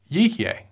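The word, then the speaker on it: יִהְיֶה: One example is in Genesis chapter 1, verse 29, where it is pronounced Yihyeh.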